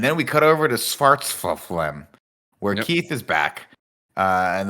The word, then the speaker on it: Svartalfheim: Svartalheim. No, there's no H. It's an F. Svartalfheim.